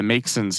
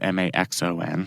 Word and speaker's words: Maxon: is arguing that the makon here it's spelled m axo n so I guess I mispronounced it the first time go with Maxon there you go the